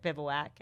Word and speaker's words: Bivouac: Like everybody, the first question everybody asks, how do you pronounce it? Bivouac.